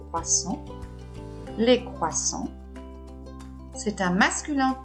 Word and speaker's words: croissants: Les croissants, attention, S final, on ne le prononce pas, des croissants.